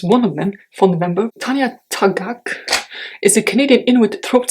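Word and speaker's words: Tanya Tagaq: This is Split Tooth by Tanya Tagak.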